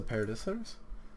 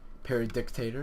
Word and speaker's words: Paradisitor: Except when you say Paradictator, it's not Paradictator. Paradisitor, I heard many ways to pronounce, but try, it's pronounced Paradisitor. It's a made up word.